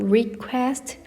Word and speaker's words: request: 소리 request를 읽으실 때에도 request 끊어서 request 해서 두 번째 음절의 강세를 두시면 되겠습니다.